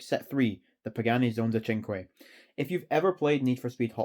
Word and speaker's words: Cinque: them were ever built hence the name chenqui which is Italian for five and yes that is how you pronounce it and it was